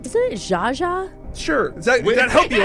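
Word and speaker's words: Zsa Zsa: Zaza. Alexis said Z-A-A-Z-A-A. That is incorrect. Jaja, Brooke, Thank you. is spelled Z-S-A space Z-S-A. Oh, the S is silent.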